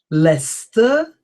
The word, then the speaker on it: Leicester: Gloucester, Leicester, Worcester, Worcestershire, Yorkshire. Okay. So this just to demonstrate to you how difficult English pronunciation is, and it's always good to do